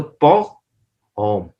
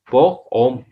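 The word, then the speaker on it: pour homme: तो फॉर मैन, मर्दों के लिए, आदमियों के लिए, तो पॉग होम, पॉग लॉम भी कह सकते हैं, पॉग होम, पॉग होम, होम H pronounce नहीं करते इस वजह से, पॉग होम।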